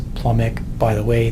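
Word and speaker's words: plumbic: By the way, the B in plumum is silent, but because most of the nomenclature that we do is written, if you want to pronounce the B instead of plumus and plumic, okay, if it gets you to spell it right, even better.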